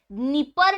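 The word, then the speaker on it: Dnieper: तर क्यूव शहर हे निपर नदी जिची स्पेलिंग डी ने सुरू होतं ठीक आहे निपर रिवर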